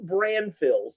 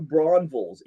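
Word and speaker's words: Braunfels: you are a new brand phil's did i say that correctly you did not according to locals new brumbles new braunville's even though it's spelled with an f it's really pronounced like a v huh maybe that's just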